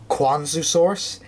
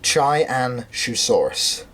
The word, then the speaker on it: Qianzhousaurus: So yes, I was going to say that I may have mispronounced it in the past, thinking it was Qianzhousaurus. It's not, it is Qianzhousaurus.